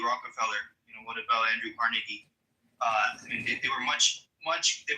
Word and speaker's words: Carnegie: So well, pronounce his fucking name right. It's Carnegie.